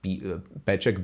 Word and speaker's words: Peček: Well, it's pronounced Peček, but I write Pecek, which would be like, because you cannot write the...